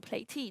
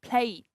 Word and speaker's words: plate: Okay, we don't say wipe he or plate he. No, it's plate.